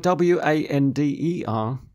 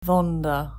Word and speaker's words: wander: Another word, W-A-N-D-E-R. Wander. Maybe they say wander. Or the W may be mispronounced. Vonder. Vonder. Mm-hmm. So there are some nationalities that typically mix up the V's and the W's.